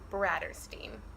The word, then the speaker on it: Bratterstein: my channel before hello my name is mispronounce bradder steam not bradhurst I'm just seeing it right today's video something